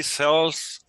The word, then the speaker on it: sells: He sells books and magazines. Okay, he sells books and magazines. Remember that the final S here is pronounced like a Z, like a mosquito flying.